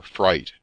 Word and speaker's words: Frith: a great portion of the frith or fright as the name was then and is still pronounced had formerly been a